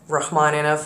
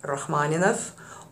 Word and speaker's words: Rachmaninov: short guide for example it's not Rahman enough in Russian you would roll your RS so it would be Rahman Rahman so if you have troubles rolling yours thinks of the British Oxford pronunciation and go with rahmanov or you can think